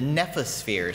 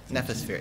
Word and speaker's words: nephosphere: The nephosphere. So it's from the Greek. So nepho is Greek for cloud. So and N-E-T? The, hmm? N-E-F. How do you spell it? N-E-P-H-O-S. Nephosphere.